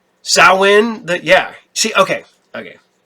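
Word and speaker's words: Samhain: That being said, um, I know, you know, people that are witches and whatnot and they love the, uh, Sawin, not Sam Hayne.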